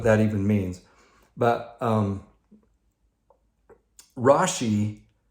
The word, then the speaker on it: Rashi: his not nickname but the easiest way to pronounce his name rashi he was french he was a jewish scholar